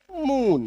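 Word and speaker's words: moon: बड़ी उकार की मात्रा F double O D food M double O एन मून T double O L tool are double O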